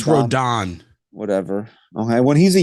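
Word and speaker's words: Rodón: say it wrong, dude. Rodon. I think it's Rodon.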